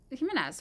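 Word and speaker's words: Gimenez: Jimenez with a G, it's still pronounced that way, urges halt to flights, remittances, and foreign oil shipments to Cuba.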